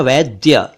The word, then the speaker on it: वैद्य: अक्षर एक शब्द है वैद्य वैद्य इसे कुछ लोग वैध कहते हैं वैध जी को बुला लाओ वैद जी को बुला लाओ ऐसा बोलते हैं जबकि यह है वैद्य वैद्य इसी से बना